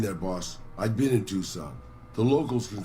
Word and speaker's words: Tucson: and ended up in tucson not two sun by the way things were good there i realized how tucson should be pronounced i